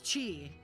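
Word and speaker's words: chai: The ch and kai is pronounced like the chi. So it's chi.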